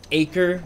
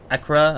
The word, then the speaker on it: Acre: off with me speaking saying uh acre not AC Acra or something I I forgot how how it's pronounced I only because I forget about it okay if you guys are piss off at this point that I keep calling it acre when the people in the game call it Acra or something I I